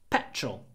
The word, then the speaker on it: petrol: petrol for my car petrol p p very short a petrol petrol um usually